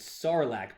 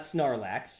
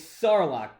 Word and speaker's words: Sarlacc: that cool okay so first off it's sarlacc pit sarlacc pit not snarlax snarlock it's not it's not a snorlax it's not a snare lock it's not a snare lacks when i said it wrong it's sarlock pit sarlock pit all right second one